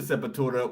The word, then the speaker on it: Sepultura: who got me into Sepultura was Brazilian himself. Yeah, of course. So I pronounce it that way. the real way, yeah, Sepultura.